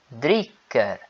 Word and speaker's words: dricker: Aqui vocês podem notar que eu estou fazendo com que apareça, né, a pronúncia do R, porque não tem nenhuma palavra depois, né? Então eu estou pronunciando o R.